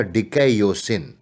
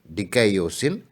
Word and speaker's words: dikaiosyne: न्याय के लिए रिपब्लिक में जिस लैटिन शब्द का प्रयोग करते हैं वह डिकैयोसिन, और इसका स्पेलिंग देखेंगे तो ऐसे बनेगा DIKAIOSYNE, डिकैयोसिन है, जिसका अनुवाद अंग्रेजी में जस्टिस के बजाय